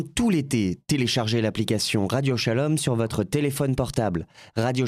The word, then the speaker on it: Shalom: Téléchargez l'application Radio Shalom sur votre téléphone portable. Radio Shalom s'écrit avec un S, Shalom S-H-A-L-O-M.